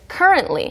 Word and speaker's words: currently: 마치 t가 없는 것처럼도 발음 많이 됩니다.